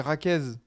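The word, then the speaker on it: Jaquez: À Ah, l'espagnol, on dit Raquez. Raquez. Voilà, comme Miguel en espagnol et Miguel en portugais.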